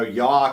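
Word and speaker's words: Yough: six Champion are playing yawk and I said that right correct yeah you did yeah cougars even though it's spelled y-o-u-g-h which Daniel I imagine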